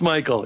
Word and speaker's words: Mikkel: No, it's Michael. Yeah, it's totally Michael.